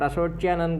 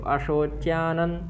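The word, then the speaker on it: अशोच्यान्: और अशोच्यानन का ना भी हलंत ना है, आधा ना है, तो अशोच्यानन वशोचस्त्वं, वशोचस कितना है, इतना ही, वशोचस्त्वं, ठीक, अशोच्यानन वशोचस्त्वं।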